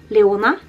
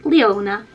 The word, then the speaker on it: Leona: So the Swedish pronunciation is Leona. And in English, Leona.